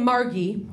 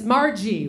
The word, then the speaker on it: Margie: that I've ever met usually when they shorten it it's Margie right I don't know where the hard G came from I don't know if